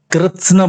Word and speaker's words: कृत्स्न: और पूरा अणा, यदि कृत्स्न बोल रहे हैं, कृत्स्न बोलना कितना कठिन। कृत्स्न, आदरणीय झा साहब से, कृत्स्न माने होता संपूर्ण, का आधा, आधा ता, आधा सा, पूरा ना।